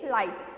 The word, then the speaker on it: light: Next is LIGHT, लाइट. इसमें भी क्या होता है, GH साइलेंट होता है, सिर्फ LIT, लाइट का ही प्रोनाउंसिएशन आता है.